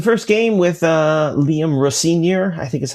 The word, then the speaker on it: Rosenior: It would have been um you know, we got it was the first game with uh Liam Rosenior, I think is how they pronounced it.